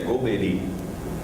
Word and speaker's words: Golbery: Brasil se pronuncia esse nome eu e a pronúncia que tem usado é golbery é em francês seria o veículo é lenta